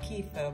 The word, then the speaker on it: kefir: Spelled kefir, we say it as kefir, but it's kefir. That's how it's spelt.